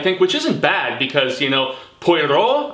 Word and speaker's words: Poirot: it had more of a purveyance of whimsy, I think, which isn't bad because, Poirot, I think is how you properly pronounce his moniker, this famous sleuth detective, this Frenchie.